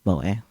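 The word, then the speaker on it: moe: pronounce moa.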